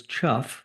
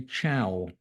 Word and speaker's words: Chough: Although now pronounced as ‘chuff’ the name was originally ‘chow’ in imitation of its ringing call, and it was confusingly shared with the Jackdaw.